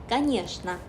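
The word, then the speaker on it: конечно: 당연하다 라는 의미의 단어인데 여기도 최 발음을 슈로 읽어서 까니여시나 까니여시나 라고 발음해 주시면 돼요.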